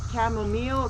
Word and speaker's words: chamomile: have a lot of chamomile now as you know i pronounce my words very different so i'm sure some of you in the south would say camel meal camel everybody says something different i'm sure you understand